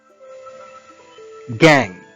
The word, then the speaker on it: gang: We pronounce this word as gang. G-A-N-G. The last letter, G, should not be pronounced as G. Gang. No. It's just like sang. We don't pronounce sang. We say sang.